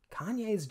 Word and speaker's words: Kanye: And while Larry David is kind of a lovable asshole, Kanye's just, well, an asshole. That's how we pronounce it. Well, I don't care where you're from, you pronounce my name Kanye.